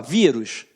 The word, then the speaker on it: vírus: Quando você fala vírus, é o rus? Não, é o vi.